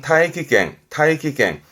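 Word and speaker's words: 大気圏: 대기권, 발음은 타이키갱.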